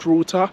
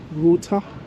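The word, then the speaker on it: Ruter: checked for an app called routa so it's spelled r u t e r if you need to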